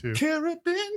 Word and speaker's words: Caribbean: answer is the Caribbean well Caribbean it's a lovely cariban Queen like that that's how you pronounce that I spent the day